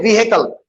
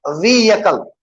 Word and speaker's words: vehicle: Here we have H. We do not pronounce it. We do not say vehicle. We say vehicle. Y sound. Vehicle.